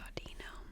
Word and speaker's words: Audino: Audino's sense of hearing is superb. Not even a pebble rolling along rolling along over a mile away will escape Audino's ears. So, you do pronounce it Au- di- no.